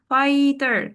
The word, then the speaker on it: fighter: So fighter fi gh silent fighter firefighter.